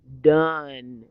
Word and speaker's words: dun: It means the tail end of a horse, and it's pronounced like you would say the word bun or fun or gun. Done.